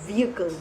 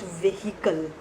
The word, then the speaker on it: vehicle: we pronounce vehicle as vehicle not vehicle H is silent the last sentence everybody